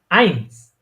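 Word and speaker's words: eins: এই যে এ যখন এখানে ইটা উচ্চারণ হবে তখন এটা হয়ে যাবে আইনস। এটা উচ্চারণ কি হবে?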